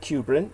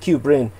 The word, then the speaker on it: Kubrin: particularly but uh david kubrin is his name and his surname is spelled k-u-b-r-i-n kubrin and like stanley kubrick except cubrin and uh he's jewish